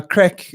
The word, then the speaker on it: craic: if anyone yeah so now crack is spelled CR AIC yeah and it's actually Irish I was I was